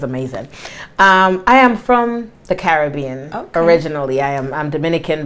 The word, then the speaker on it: Caribbean: we say the Caribbean a lot of Americans say Caribbean but if you the Carib Indians so it's the Caribbean I like that yeah